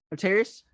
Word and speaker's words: Atreus: Atreus.